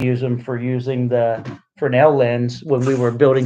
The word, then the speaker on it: Fresnel: And look, in the videos, I even say it wrong. I say Fresnel. I've been schooled now. It's Fresnel.